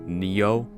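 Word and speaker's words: Nioh: up apparently it's pronounced neo like neo so yeah there you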